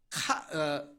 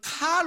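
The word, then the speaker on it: Karl: 독일어 발음으로는 카를 5세, 영어 발음으로는 칼 5세라고 해요.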